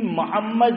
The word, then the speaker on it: محمد: صحیح اس کا تلفظ جو ہے وہ کرو, اور صحیح تلفظ بھی محمد میم پہ زبر نہیں ہے, کیا ہے, میم پہ ضمہ ہے, میم پہ پیش ہے, تو پیش پڑھنا ہے.